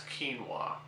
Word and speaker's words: quinoa: a personal favorite of mine uh and that's quinoa uh quinoa as you can see by my